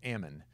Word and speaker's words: Amman: of the dead sea you have amman or ammon better pronounced okay so we we